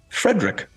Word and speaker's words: Frederick: No, it's pronounced Frankenstein. Do you also say Froderick? No, Frederick.